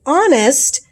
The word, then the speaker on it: honest: not the letter so and the letter h is a consonant but sometimes you don't say it like you might say history that's the h sound but if you say honest that really is an o sound so again the emphasis